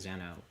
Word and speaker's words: Zeno: They pronounce it Zeno in the show, right? But I think like the original like Zeno, the Greek name, I think is pronounced Zeno, the famous Greek philosopher, which I assume is where that name comes from.